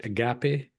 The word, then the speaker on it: agape: on uh Christianity and Agape I believe I'm pronouncing it right Agape you're right yeah yeah yeah so big topics